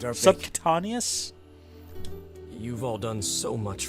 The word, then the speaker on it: subcutaneous: Subcadinius. I can't actually pronounce the word.